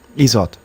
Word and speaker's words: IZOD: the one I thought the real the real test that Gary based the name of the band on is pronounced isot okay I was uh